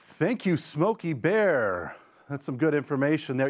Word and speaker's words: Smokey Bear: happening all the time people say Smoky the Bear it's actually smokey bear bear is his last name he not Smokey the Bear like Smokey the Bandit but feel free